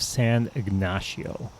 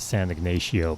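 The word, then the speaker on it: San Ignacio: Ray is just a little bit South of San ignasio uh I I was pronouncing it San ignatio but I was corrected by the locals at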